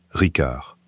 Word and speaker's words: Ricard: Au Sud, il garde le C dur de la langue d'Oc, Ricard.